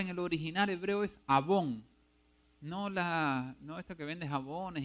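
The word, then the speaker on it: עָוֹן: O sea, la palabra iniquidad en el original hebreo es abón, A-V-O-N, con acento en la O, y es perversidad o mal moral.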